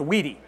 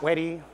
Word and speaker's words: wedi: that's last name and it is pronounced weedy not witty witty maybe maybe that's a good question yes wedi started in 1983.